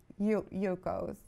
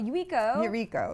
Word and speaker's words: Yuiko: I think you should give Yuko's. Oh, Yuiko. I said it wrong.